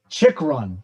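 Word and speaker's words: Chychrun: j reader you really busting balls on my pronunciation here his name is jacob chick run okay he's an american he was born in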